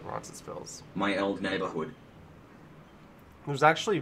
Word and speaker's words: Roncesvalles: I say the S. I pronounce it Roncesvalles.